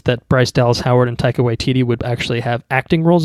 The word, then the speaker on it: Taika Waititi: looking forward to this yeah yeah small correction Taika Waititi is his name what'd I say put put some respect on it Takeda yeah and Rick family Uwe would be the